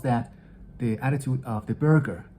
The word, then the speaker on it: burgher: the attitude of the burger this word is spelled b-u-r-g-h-e-r it's a relatively archaic